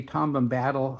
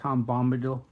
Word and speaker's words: Bombadil: usually get that wrong I used to say tomam battle until I heard it correctly Bombadil this is an Amish